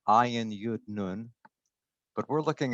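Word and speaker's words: אין: This word ayin, it's pronounced ayin, but it's spelled with the Hebrew letter aleph.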